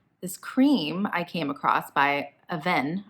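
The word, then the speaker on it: Avène: I came across by a venn I called it a Veen in my last video it's French brand and I pronounced it wrong shout-out to like the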